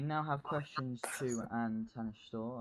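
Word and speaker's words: Tánaiste: Well, we now have questions to and Tanishtor, I believe that's pronounced. Gonna have to get Karma to check that for me, but It's Tadishta, and just for those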